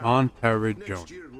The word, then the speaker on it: Monteriggioni: For now, Monteriggioni. Okay, that's how you're supposed to pronounce that.